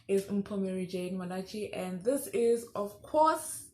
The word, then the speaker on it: Reif: I've been pronouncing it Reif and just recently found out that it's pronounced Reif because she is a German influencer, fitness influencer and model.